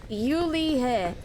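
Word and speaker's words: Julia: Julie is pronounced Yulia.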